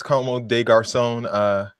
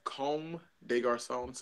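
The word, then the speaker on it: Comme des Garçons: is really a nice como des Garcons value pronouncing that no it's comme des Garcons so French area yeah they're okay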